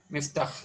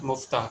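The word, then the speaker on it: مفتاح: When there is dhamma, like this one, then at that point of time we will pronounce that muftah, but it is miftah because kasra is there.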